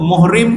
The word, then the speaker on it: muhrim: orang yang pakai ihram muhrim tu walaupun ejaan dia mim Ha ra mim Tapi baris dia lain jadi bila sebut muhrim maknanya orang yang pakai